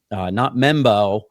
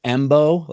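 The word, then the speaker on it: Mbow: One of my favorite guys after some late night tape watching last night is not Membo, but I think it's pronounced Embo. It's close.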